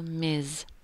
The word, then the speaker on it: Ms: prefers miss or MERS use the title Miz and we spell it like this MS